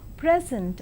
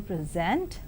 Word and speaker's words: present: So, a word can be present or present, object or object, project or project.